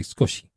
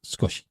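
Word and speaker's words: すこし: It's sukoshi is how it's spelled, but it's skoshi. Skoshi. Sometimes on the audio you hear skoshi. Sometimes you hear skosh. Perhaps it depends on your accent. Perhaps it depends on what's following it.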